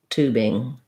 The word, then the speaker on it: tubing: And then for tubing, we have the oo vowel, first syllable stress, and then just our standard ing after the B. So I would rewrite that as tubing, length on the two.